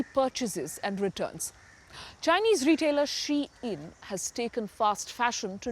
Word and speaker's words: Shein: Yes, I don't think it's Shine. Shein is how I tend to pronounce it.